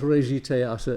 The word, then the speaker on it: Regietheater: a compound word that the soft G announces the fact that the first part is is really French in origin and it links to